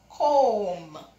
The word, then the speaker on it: comb: Comb. The B is silent because which letter is there? M. It is after the M, so it is silent.